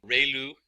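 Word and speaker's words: ReLU: We have the ru is pronounced like ray the ray from the sun and lu like a name. So ru function.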